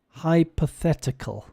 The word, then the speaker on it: hypothetical: the h y p hypothetical hypothetical often in Latin languages the h y will be e pathetical hypothetical but in English it's